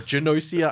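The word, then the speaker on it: Gnosia: I still don't know how to pronounce it. Gossia. I don't know if it's Nosia or Ganosia or Janosia.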